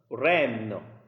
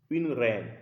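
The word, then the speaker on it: reine: So we have ren because of this e and i together in the words the pronunciation is e ren so and the last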